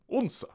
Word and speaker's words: Odense: well, it's spelled Odense, Odense, but the locals pronounce it Odense.